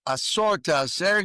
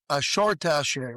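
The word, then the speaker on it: עשר תעשר: If you take that little almost imperceptible dot and you move it over to the right side of the shin, now it's pronounced shin instead of sin. Instead of asser tasser, you now say asher tasser, which means you shall become wealthy.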